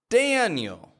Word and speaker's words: Daniel: Where's the strong vowel in there? Dan, right? Dan. And the weak vowel? Yo. Daniel. Even though there's an I-E on the ending, we don't pronounce that I-E. It's real weak. It's just a yo.